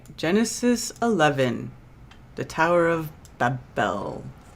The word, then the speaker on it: Babel: that's right genesis 11 the tower of babel babel yeah or uh bavel but same thing babel bavell babel babel whatever which is uh which is confusion and uh even the way that we pronounce it is confusion right because it's been anglicized all right shall we